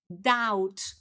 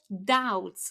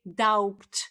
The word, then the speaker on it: doubt: So, now we've got another silent letter here because the correct pronunciation is doubt or doubts. Okay? So, we don't say doubt.